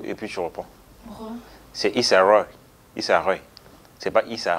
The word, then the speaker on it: Issa Rae: Quatrième look du jour, Issa Rae en Jason Rombert. Là, tu sais à quoi elle me fait penser? S'il te plaît, on coupe et puis tu reprends. C'est Issa Rae.